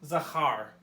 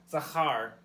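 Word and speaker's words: זכר: This word is pronounced Zachar. That middle letter there has a ch noise. Zachar. And Zachar is a verb.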